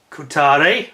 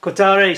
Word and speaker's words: Kotare: and on people's doorsteps it's the kutari which I believe is the correct pronunciation Qatari Spitfire uh this is